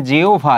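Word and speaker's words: জিহ্বা: বা হচ্ছে ভ হবে যেমন আমরা যদি বলি জিহবা তাহলে কি হবে জিওভা এটি হবে আশা করি এই দুইটার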